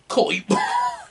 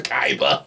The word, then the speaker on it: Kaiba: even sound like bastion who's next coibo at least at least that kind of sound it's all but at least that sound close to kaiba poison and of course